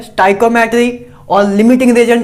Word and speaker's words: stoichiometry: तो पहले देखो स्टाइकोमेट्री क्या होता है, इसकी प्रोनाउंसिएशन इसको क्या बोलते हैं, स्टाइकोमेट्री, ठीक है ना, स्टोइचोमेट्री ना बोलने लग जाना।